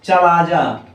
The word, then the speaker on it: chalaza: निभाग या चलाजा। निभाग या चलाजा। चलाजा की स्पेलिंग ध्यान दीजिएगा, CHALAZA होता है, वो नहीं होता है, ठीक है ना।